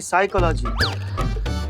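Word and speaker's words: psychology: का लागी साइकोलॉजी नहीं साइकोलॉजी प साइलेंट होता है तुम हो जाओ साइलेंट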